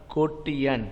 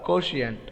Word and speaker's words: quotient: got get the answer it's called a ko tian what kotian or quotient okay question is also proper is a proper pronunciation and kotien is also proper pronunciations okay and outside the